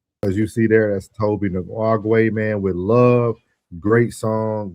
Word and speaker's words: Tobi Nwigwe: Tobi Nwigwe. Nwigwe. Mhm. Tobi Nwigwe.